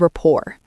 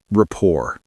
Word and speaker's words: rapport: These small questions build rapport. Rapport. That's a fancy word. How do you spell it? It's r a p p o r t. The t is silent.